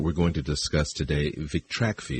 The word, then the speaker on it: Vitrakvi: going to discuss today vrai is that the uh correct pronunciation of the compound yes it's a tra name vrai